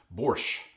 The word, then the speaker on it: borscht: Today we are making the most punk rock of soups, borscht, or if you prefer to pronounce it in the Ukrainian, borscht. They leave the T off at the end, I don't really know why.